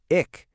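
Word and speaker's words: एक: Now, say the sounds e plus c. Put them together and what do you get? Ick.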